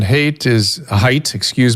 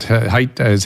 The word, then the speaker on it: Haidt: Obviously, Jonathan Haidt. See, I told you I'd mispronounce his name. Lukianoff, I can get. Haidt.